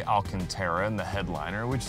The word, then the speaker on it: Alcantara: I actually used to call it Alicantara, which like makes no sense at all because that's not even how it's spelled. But we'll say Alcantara in the headliner, which